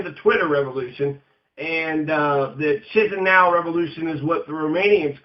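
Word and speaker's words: Chișinău: Chisinau, and I guess that's how you say it, Chisinau, during these parliamentary election protests, 2009 Moldovan parliamentary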